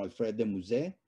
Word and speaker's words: Alfred de Musset: clásicos para entonces como alfred de musset como vamos a pronunciarlo a la francesa como hijo víctor hugo